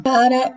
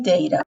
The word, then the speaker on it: data: que tem duas variações de pronúncia, Dara e Deira. Duas são corretas e têm o mesmo significado, tá?